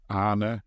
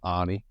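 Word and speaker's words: Arne: how his names pronounced people are kind of saying Anna instead of Anie and and schlot instead of slot it's going to be Annie slot isn't it I mean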